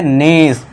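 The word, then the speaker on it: nice: इसके बाद सी ई है, ई को भूल जाइए, हमने सीखा है ई लास्ट में आ जाए तो वो साइलेंट, तो बस फिर सी के लिए स लगा दिए, और ये क्या हो गया, नीस।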